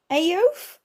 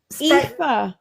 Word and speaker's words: Aoife: Aof?